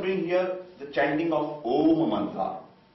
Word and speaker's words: Om: here the chanting of om manra om it has a three syllables a o and m a o and m